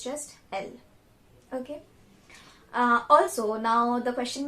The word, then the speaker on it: elles: There is a S at the end of the word, but we do not pronounce that S. It's just L.